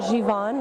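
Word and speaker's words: Givenchy: to correct you but we actually pronounce it given like without the she at the end and the reason for that is that the product is actually produced in france so we tried to stay true to france and it's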